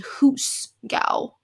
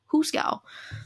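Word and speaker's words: hoosegow: go who's gow yahoo and it's spelled h-o-o-s-e-g-o-w which you'd think that it's a word that you know but it's not because it's not goose it's a hoos gao huskaw um i feel like it's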